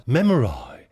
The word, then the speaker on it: memory: occasionally, where, strictly speaking, we would have to pronounce memory as memori to rhyme with sky.